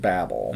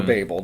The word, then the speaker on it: Babel: And then prior to that, he had directed Babel or Babel, depending on people pronounce it different ways, with Brad Pitt and Cate Blanchett in 2006.